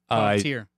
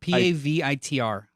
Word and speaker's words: Pavitr: Puppeteer. Yeah, Prabhakar Prabhakar. But I Pavitr.